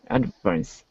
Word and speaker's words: advance: Advance. Okay. Second syllable. Yeah, it's just the intonation. I think you emphasized the beginning instead of the end, which is fine.